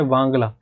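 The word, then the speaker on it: Wangala: आगे वाला यह है वांगला। इसको कई जगह बांगला बोलते हैं। तो बट यह वांग्ला है।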